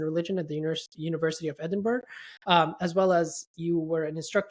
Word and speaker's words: Edinburgh: Am I pronouncing that right? Edinburgh.